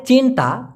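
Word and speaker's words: cinta: বস সায়াঙ্কান কামি বস ভালোবাসে আমাদের দেখুন ডাইরেক্ট চিন্তা সি আই এন টি এ উচ্চারণটা হবে সি কে যেহেতু চার উচ্চারণ করে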